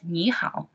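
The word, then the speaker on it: 你好: that's a way we greet people in Chinese Nihao okay so as you can see here that's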